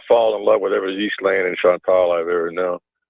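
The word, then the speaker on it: Ghislaine: speak French it is in English as you would you would spell it almost as a zhe or a jhe okay eastling it's because you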